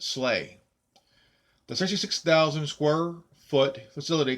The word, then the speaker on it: SLEA: Suburban Law Enforcement Academy, SLEA, pronounced SLAY.